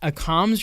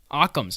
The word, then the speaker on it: Occam's: I can't pronounce that a comms razor Occam's it's Occam's that's how you're supposed to Occam's razor that's the way I've always heard it Occam's razor the most